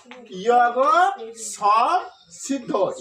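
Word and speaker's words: যোগসংসিদ্ধ: যোগ সংসিদ্ধ, এটার উচ্চারণ কি করবো আমরা? ইয়গ সম সিদ্ধ, ইয়গ সম সিদ্ধ। কেন? আমরা জানি জ সমান সমান কি? অন্ত্যেষ্টি জ্বর উচ্চারণ হয় ইয়, তাহলে আমরা অন্ত্যেষ্টি জ্বর জায়গায় বসে দিলাম কি?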